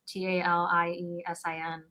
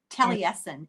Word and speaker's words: Taliesin: I mean, I don't know how else you pronounce it. It's Taliesin. Taliesin.